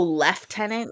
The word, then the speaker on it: lieutenant: didn't think there was any other way to pronounce those oh left tenant you mean when they would call them left